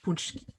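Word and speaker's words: pączki: Indiana that makes authentic punchki. So, but I've seen them in Kroger, and when you look at them, it looks like it says Patsky on the label, but it's pronounced punchki.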